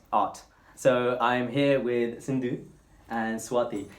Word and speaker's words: Sindhu: It's pronounced Sindhu, isn't it? Not Chiinthu. People call me Sindhu and Chiinthu. Yeah, I called you that last time and someone said Sindhu and I was like, alright. Yeah, I mean we spell it with a C and then Tamil it says C, so...